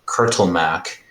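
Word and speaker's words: Kurtulmak: but you can tell that the name uh curtle Mac is etched on this this altar can you spell that for me and yeah k-u-r-t-u-l-m AK um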